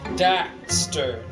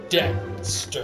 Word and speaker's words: Daxter: A lot of people like Dexter a lot more than Jak. Daxter, not Dexter.